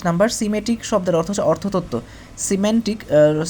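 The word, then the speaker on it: semantic: সিমেন্টিক। সিমেন্টিক হবে উচ্চারণটা। সিমেন্টিক মানে অর্থতত্ত্ব।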